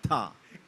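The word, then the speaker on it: था: Even with the lyric writers in the studio who were supposed to correct my pronunciation, I managed to say pyar to honai ta instead of tha.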